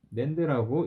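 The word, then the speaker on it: NAND: + and에도 결과치는 똑같아요 그래서 얘도 낸드라고 읽어 주셔야 되고요 얘도 낸드라고 읽어 주셔야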